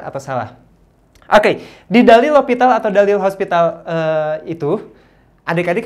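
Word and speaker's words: L'Hôpital: Dibacanya L'Hopital ya, atau boleh juga ditulis hospital, boleh juga lah ya. Tapi tetap dibacanya dalil L'Hopital.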